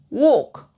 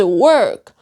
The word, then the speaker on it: work: I used to pronounce walk. And I didn't know how to pronounce work properly. There are different vowels. Okay? There are different vowels. One is work. The other one is walk.